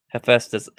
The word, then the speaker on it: Hephaestus: But Star Lord ends up getting trapped by I can't pronounce this. Hephaestus? Did I say that You're right? right. You're correct. Hephaestus.